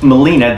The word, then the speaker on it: Gmelina: in the premna the molina is pronounced molina the g is silent molina philippensis also known as